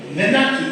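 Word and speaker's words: menarche: বোঝাতে পারলাম না আচ্ছা তাহলে কি বললাম আমি মেনার্কি এটাকে আমরা কিন্তু মেনার্কি বলবো না মানেটা এমন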